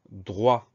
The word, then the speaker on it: droit: On entend dr au début, donc on a un D et un R. Ensuite, on a le son wa qui s'écrit OI comme d'habitude. Et à la fin, on a une lettre muette, c'est le T, lettre muette qu'on retrouve dans droite.